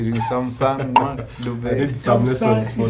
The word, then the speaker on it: Thamsanqa Dube: Here we have some Thamsanqa Dube, much as there's a way they say Thamsanqa Dube. I need some lessons for that. Thamsanqa Dube.